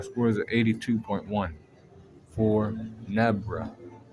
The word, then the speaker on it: Nebra: Overall power score is at 82.1 for Nebra. Rhymes with zebra, I know.